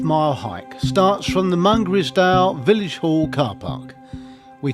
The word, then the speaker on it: Mungrisdale: Here we are at Mungrisdale, or Mungrisdale as I have been reliably informed it's pronounced.